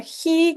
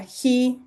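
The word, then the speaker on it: χ: Bien, la fi, luego la ji que se translitera como CH, pero no se pronuncia como CH, sino se pronuncia como J.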